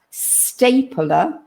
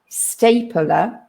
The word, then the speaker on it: staple: e we pronounce it if you were to write it you would probably write it e l but english spelling is